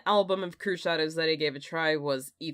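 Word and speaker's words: Cruxshadows: well on YouTube so the name crew shadows was a familiar sight to me the pronunciation was a new experience however I always thought it was corrupt shadows nope the Florida dark wave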